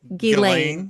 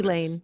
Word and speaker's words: Ghislaine: Her name's pronounced Ghislaine, whatever it is. Ghislaine. The S is silent. It's French.